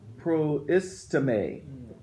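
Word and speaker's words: προΐστημι: No, I'm looking at the pronunciation. Proistime. Proistime? Proistime. So give me some words. Give me some words that he's using. And what is Paul saying? Proistime. To stand before. To stand before.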